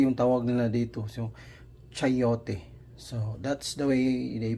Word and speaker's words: chayote: Chayote yung tawag nila dito. So chayote. So that's the way they pronounce it.